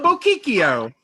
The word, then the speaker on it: Bocchicchio: From Salt Lake City, Bocchicchio. You said it wrong, Billy. How do I spell it? How do I say it? Think Pinocchio.